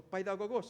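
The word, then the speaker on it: παιδαγωγός: El paidagogos, o paidagogos es la pronunciación correcta, pedagogos, era el esclavo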